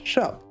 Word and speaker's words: scop: The more likely option, I think, is pet shop. Shop is the Old English word for a poet, and yes, it is pronounced shop, meaning Petscop and actually